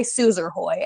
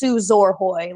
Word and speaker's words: Suzor-Hoy: and it's like it's suzor Hoy like and I was like it's spell or Hoy yes yes and a lot of things are spelled with an o r and they're pronounced ER I get it that's